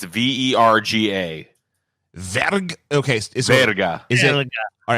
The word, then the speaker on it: verga: Is it verga or is it veriga? Verga. Verga. Yeah. Chupa mi verga. There you go. Chupa mi verga.